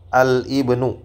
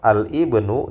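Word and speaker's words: الابن: ini kurang kurang tepat sama juga dengan Al Ibnu Nah kalau Al Ibnu itu kurang tepat Nah alibnu itu kurang tepat tapi yang benar yang tepatnya ada alibnu ya Alib NU seperti itu jadi alismu dibaca dengan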